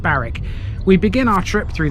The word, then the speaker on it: Barwick: where we are today despite its spelling of barwick it's pronounced barrack we begin our trip